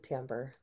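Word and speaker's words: timbre: I I'm obsessed with tamber just FYI it's also a beautiful word isn't it like yeah spelled like timbra like yes t i m b r e I know gives me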